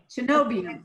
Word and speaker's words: cenobium: Oh, Cenobium. Cenobium. Yeah, perfect. You said it perfectly right.